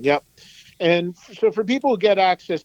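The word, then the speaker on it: AXS: and four people get access TV which is spelled ax s its own it's a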